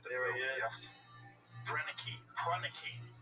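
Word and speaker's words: Proenneke: Prunicky. That's how you say his name.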